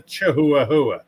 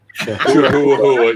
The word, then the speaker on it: Chihuahua: and I can't get mad at him because that's how it's spelled. It's a Chihuahua. Chihuahua, yes.